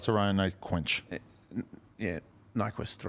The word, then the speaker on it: Nyquist: we shout out to ryan knight quench yeah nyquist right quench i said it right why are